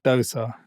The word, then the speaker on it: Dosa: It's spelt like the Indian pancakes, which are pronounced Dosa.